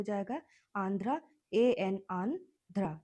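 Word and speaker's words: Andhra: आंध्र Pradesh N डी एच आर ए आंध्रा पढ़ सकते हो अगर प्रोनाउंस करने के लिए आंध्रा प्रदेश। ठीक है? प्रदेश हिंदी में आंध्र बोलते हैं। इंग्लिश में आप इसे सिर्फ प्रोनाउंस करिए। आंध्रा। तो इससे स्पेलिंग आपका हो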